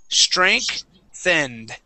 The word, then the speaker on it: strengthened: Okay, forget that there's a G there. Okay, we're not going to pronounce a G. We actually pronounce a K. All right, so it's pronounced strink. So it's S-T-R-A-N-K. Strengthened.